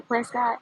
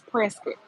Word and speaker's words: Prescott: It's spelled Prescott, but if you say Prescott, they know you're not from around here because it's Prescuit.